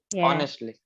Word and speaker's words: honestly: word yes honestly it's honestly it's just silent yeah honestly yes but you're uh